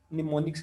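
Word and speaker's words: mnemonics: एन से, NEMONIC, मतलब एम जो है ना ये फर्स्ट वाला साइलेंट होता है, निमोनिक्स कहते हैं, हम्म।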